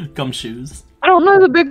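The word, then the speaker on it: Gumshoos: you spell it g-u-m-s-h-o-o-s exactly how it's spelled it sounds gum shoes I don't know the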